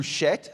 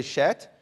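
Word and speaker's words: שֵׁת: Seth, the second son there, or the third son, is in Hebrew Shet. Say Shet. And why is he called Shet?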